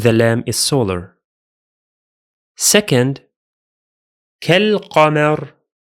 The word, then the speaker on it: كالقمر: Second, كالقمر. كالقمر. Only the alif is silent because we are in connected speech again, while the lam is pronounced because it's lunar this time.